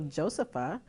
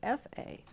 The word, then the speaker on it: Josefa: So my name was, the ah sound was added to my name, so Josepha, and it was spelled with an F, so it's Josefa.